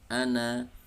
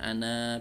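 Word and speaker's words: أنا: Kemudian ada bacaan ana yang aslinya ada matnya, ana panjang, namun karena di sini ada bulatan kecil, ini menunjukkan bahwa huruf tersebut alifnya tidak dibaca ya, alifnya tidak dibaca ya.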